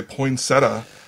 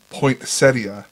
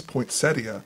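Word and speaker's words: poinsettia: so being a horticulturalist people say poinsetta and it's pointa right right poia it's poia never I always thought people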